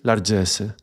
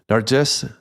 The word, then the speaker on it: largesse: I think it would be pronounced more or less like this, largesse.